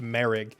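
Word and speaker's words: Moehrig: kind of spelled similarly it's m o e h r i g and it's pronounced merri so maybe Garing I don't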